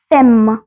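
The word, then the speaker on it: femme: तीनों ही चीजें तो वुमेन को बोलते हैं एम फम ठीक है तो एफ ई एम एम ई फम फम अच्छा उम्मीद है कि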